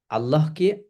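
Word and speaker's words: الله: আল্লাহ শব্দের পূর্বে ফাতাহা বা দম দম্মা হলে আল্লাহকে মোটা বা আল্লাহ পড়তে হয় যেমন এখানে দেখতে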